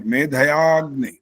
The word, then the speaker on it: मेधयाग्नि: जो अ का उच्चारण पूरा किया वो गलत हो, मेधया, मेधया अग्नि नहीं बोलते यहाँ पर, मेधयाग्नि ऐसा बोलना होता ये है।